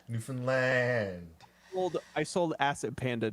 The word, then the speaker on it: Newfoundland: land you been finland but don't say it like that newfoundland well i sold asset